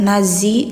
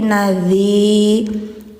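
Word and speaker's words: نذير: gunah musyaddadah lakum nadzi hati-hati ya jangan zadzi dzi lidah ujung di gigi atas jadi enggak ada suara zat nazzi enggak tapi nadzi rummu tanwin menghadapi mim ya masukkan langsung suara N ke m rum mubin.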